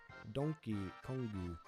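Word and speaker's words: ドンキーコング: a bootleg version of how Donkey Kong is pronounced in Japanese. Donkey Kongu.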